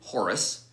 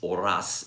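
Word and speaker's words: Horace: identity was that when horus probably pronounced oras in french falls in love with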